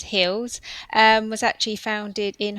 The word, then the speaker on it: HILS: So um health and independent living support we pronounce it as hills um was actually founded